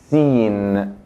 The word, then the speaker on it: س: Sin, sin, como la S española.